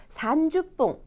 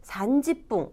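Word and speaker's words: 三十分: 그래서 30분은 산주뿡이라고도 하고 산지뿡이라고도 해요. 산주뿡, 산지뿡 같은 말이고 또 우리말도 9시 반, 2시 반 하는 것처럼 반이라는 말을 항이라고 해요.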